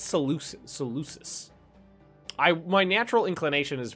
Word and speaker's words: Seleucus: After the fall of Mesopotamia and Persia to Seleucus, I never know if that's a hard C or a soft C. I think it's Seleucus.